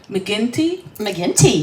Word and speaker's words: McGinty: McGinty? McGinty, yes.